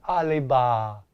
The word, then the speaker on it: Oliva: I'm saying it like Mrs. Douglas on Green Acres. Oliva.